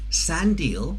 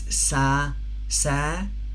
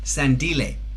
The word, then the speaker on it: Sandile: It's Sandile. Sandile. Is that correct, Cuthbert? Sandile. Yeah? Sandile. Sorry about that. Yeah. Sorry, I was pronouncing it like someone who's British.